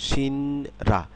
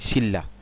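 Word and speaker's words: 신라: তেমনি ভাবে কি হবে এটা সিলেবেল অনুসারে উচ্চারণ করলে সিনরা কিন্তু হবে কি শিল্লা ঠিক তেমনি এটা জল্লাদ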